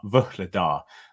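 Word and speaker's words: Vuhledar: get in trouble with because I try and pronounce it too much, but it is Vuhladar, and it's kind of but anyway.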